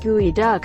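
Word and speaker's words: geoduck: isn't that a pokemons side Locker Geodude but gooey duck is actually pronounced gooey duck so it doesn't really fit with either gooey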